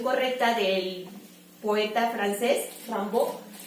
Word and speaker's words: Rimbaud: Y fue así que creó el personaje de Rambo, que se llama así por la pronunciación correcta del poeta francés, Rimbaud, y él decidió, su esposa estudiaba Rimbaud en